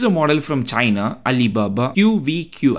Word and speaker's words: QVQ: model from China Alibaba qvq I think it's pronounced quick this is a 72